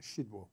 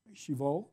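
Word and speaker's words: Szydło: of undermining democracy and how do you say the polish Prime Minister's name shiva shiva and the real leader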